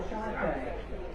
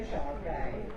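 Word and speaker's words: Shar-Pei: Controversy reigns over the pronunciation of this breed. Some devotees insist on Sharpei along the lines of I say tomato, you say tomato.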